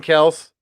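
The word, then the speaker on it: Kelce: I said Jason Kels. I think it came out today. That's how we're supposed to be pronouncing his name now.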